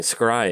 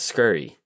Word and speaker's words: scry: be like, hey, Jolt, it's actually scry, not scurry.